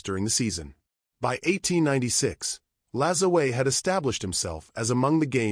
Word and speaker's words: Lajoie: There are various ways to pronounce his last name, notably Lajoie, but according to some contemporary sources, this was how his name was pronounced during his playing days.